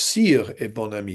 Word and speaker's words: et bon ami: I suppose sire et bon ami, if we're pronouncing in French.